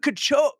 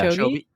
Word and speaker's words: Kipchoge: She interviewed Kipchoge. Oh my God. Say his name for me. Yeah. Kipchoge. How do I say it? Kipchoge.